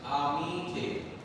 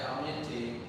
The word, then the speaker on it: amiti: So Fatima is amiti. Oh, I heard somebody say aminti. We don't say that. Amiti. It's like you're saying the word mean.